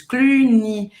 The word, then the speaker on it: Cluny: Cluny, o Y tem som de I em francês. Cluny.